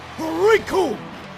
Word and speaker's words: Recoome: Because the name's Recoome, and it rhymes with doom, and you're gonna be hurting all too soon!